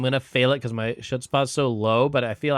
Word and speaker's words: chutzpah: scheming, and I'm gonna fail it because my chutzpah's so low. But I feel I could use a. Oh my god, he keeps calling it chutzpah, and I don't know if it's on purpose